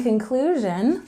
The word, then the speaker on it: conclusion: linking words of conclusion in conclusion with a stress on the second syllable in conclusion conclusion is